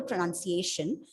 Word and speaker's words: pronunciation: So I was talking about the pronunciation. Whenever the tip that he gave is, whenever you pronounce a word ending with T-I-O-N, you have to stress on the penultimate syllable.